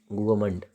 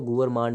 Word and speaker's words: gourmand: गुआमंड, लेट me right it, गुआमंड। गुआमंड, GOURMAND। गुआमंड पढ़ेंगे इसको। गुआमंड, इसको गुअर मांड वांड मत पढ़ना। गुआमंड पढ़ेंगे। गुआमंड क्या है?